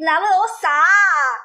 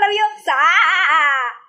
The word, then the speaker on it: Leviosa: Besides, you're saying it wrong. It's Leviosa, not Leviosa. So if you're so clever, why don't you do it? Wingardium Leviosa.